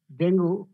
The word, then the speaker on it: ডেঙ্গু: virus infection ডেঙ্গু তাইতো ডেঙ্গু অনেকে বলবে ডেঙ্গি এখন তোমরা যেটাই উচ্চারণ করো সে দুটাই ঠিক ডেঙ্গু বলতে পারো বা ডেঙ্গি যেটাই বলো না কেন